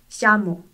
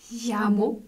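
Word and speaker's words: llamo: 근데 지역에 따라 야를 야랑 자 사이에 자로 발음하는 곳도 있답니다. 이걸 예이스모 현상이라고 하는데 내가 부르다 라는 뜻의 자모로 연습해 볼게요. 자모. 야모?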